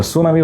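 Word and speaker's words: tsunami: কিছু কিছু বানানে প্রথম অ্যালফাবেটটা থাকে সাইলেন্ট, যেমন সুনামি বানানে টি সুনামি, নিউমোনিয়া বানান পি নিউমোনিয়া, সাইকোলজি বানান পিসাই চলো যাই মানে পিসি চলো যাই, নিউমোনিক বানানে এম নিউমোনিক।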